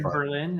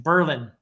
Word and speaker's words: Berlin: It looks like Berlin, but in our neck of the woods, they pronounce it Berlin. Berlin.